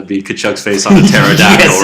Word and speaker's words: pterodactyl: Depends how you pronounce pterodactyl. Pterodactyl, if you want to add the P.